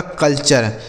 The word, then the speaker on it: culture: ठीक है, आगे देखिए CULTURE, तो CUL से हो गया दोस्तों कल, और TURE का उच्चारण हो गया चर, यह लिखा गया आपका कल्चर।